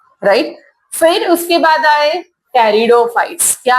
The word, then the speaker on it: pteridophyte: Next gymnosperm, टेरिडोफाइट, P silent है, and then ब्रायोफाइट्स, right. Major group name quickly tell me first. Bryophyte, pteridophyte, gymnosperm and angiosperm.